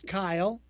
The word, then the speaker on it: Kiel: Strategically, let's go with Kiel. Am I pronouncing that right? It's Kyle. No. Kyle. Kyle. And go ahead with Kyle. We're going with Kiel Holmes, everybody. Who would spell Kyle that way?